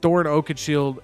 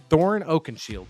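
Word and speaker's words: Thorin Oakenshield: what we got here all right you said Thor Oak Shield LOL am I messing up the name am I not saying it right Thoren Oaken Shield yeah oh you You misspelled it that's the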